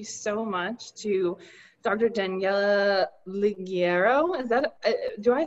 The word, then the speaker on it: Ligiero: Daniela Ligiero. Do I say your last name right? Almost Ligiero. It's a soft G.